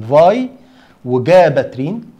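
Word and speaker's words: Vigabatrin: السكند جينيريشن الاولاني خالص طلع سنه 1989 اسمه الفاي جاباترين. فاي انطقها على مرتين، فاي وجاباترين.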